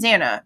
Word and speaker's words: Xana: And it starts with, I'm Xana, pronounced Xanax without the X, which is something that we did get a preview of.